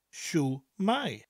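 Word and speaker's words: Shwmae: shoes it's my shoe let's reverse it shoe my shoe my shoe my imagine I'm waving the shoe at you I'm saying hello shoe my shoe my just imagine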